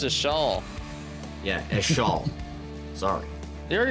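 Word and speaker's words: Ixchel: each shell that's right e shell spelled ix-c-h-e-l and that's Roger's fault I didn't do that one it's pronounced a shawl yeah a shawl sorry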